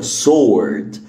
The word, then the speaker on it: sword: كلمه save ال w هنا صامته. sword sword sword sword اوكي.